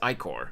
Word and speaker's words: ichor: Second pronunciation. Okay, so it's Ichor.